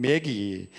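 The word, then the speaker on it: Maggie: 원 제목은 When You and I Were Young 매기. 마와 매자의 중간 발음 우리가 들립니다만은 당신과 내가 어렸을 때 이런 올드 팝송입니다.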